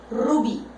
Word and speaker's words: rubí: yo tengo la palabra rubí. Vamos a dejarla sin acento, vamos a analizarla. Separo en sílabas, rubí. Por el sonido, yo observo que esta palabra tiene la última sílaba más fuerte.